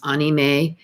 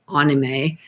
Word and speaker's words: anime: If you're joining us, I'm talking about Japanese anime and Hawaiian design. I have been pronouncing it incorrectly all these years, calling it anime. It's actually anime, AHKNEEMAY.